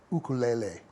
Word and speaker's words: ukulele: the uh I'll use the correct Hawaiian uh pronunciation ukulele ukulele is what they they call it yes